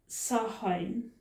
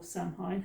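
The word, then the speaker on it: Samhain: most important festivals now at sahine or samine however you want to pronounce it it was believed and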